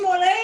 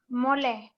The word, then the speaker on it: mole: I can't think, sauce mole, doesn't that have chocolate in it? Yes, yes, it has. Did I say it correctly? Mole.